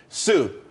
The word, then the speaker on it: TSU: there's more money and everyone could be happy Sue TSU it's pronounced Sue though that's that's a website.